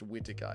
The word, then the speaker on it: Whittaker: It's pronounced Whittaker, Eric.